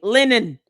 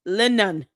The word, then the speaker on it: Lenon: And it's so dumb that you think that our intelligence is lower than yours while you cannot pronounce his name. Linen. L E N O N. Linen.